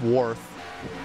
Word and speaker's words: Wyrth: Now ask Worth. The Y is a vowel.